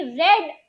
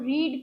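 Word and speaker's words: read: देखिए यहां पर स्पेलिंग जो है वह रीड का है लेकिन इसको प्रोनंसिएशन वी2 और वी3 में इसका प्रोनंसिएशन होगा रेड। स्पेलिंग भले ही तीनों के सेम होंगे लेकिन इसका प्रोनंसिएशन वी2 और वी3 में हो जाएगा रेड।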